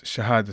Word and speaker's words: Shahada: it's Shahada.